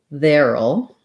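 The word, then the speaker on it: there'll: will as two words we contract them to veril and that sounds like the word there which has the voice th sound the air diphthong um and then it we add a dark syllabic l so it sounds like veril which basically you can think about as sounding like their old veril there will be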